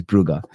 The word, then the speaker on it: Brugge: It's not Bruis, it's Buger. I get told off every time I say it wrong.